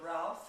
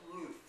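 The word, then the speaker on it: Routh: Some people pronounce it Ralph. It's R-O-U-T-H. But we called ourselves Ruth.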